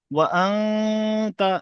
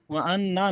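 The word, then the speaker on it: وَأَنْتَ: ওয়া আনতা, ও আন্নাতা, ওয়া আন্না নয়, ওয়া আনতা, নুনের উপরে সাকিন আছে, সাকিন হরফ ডান দিকের ও হরফ সেই মিলে পড়তে হয়।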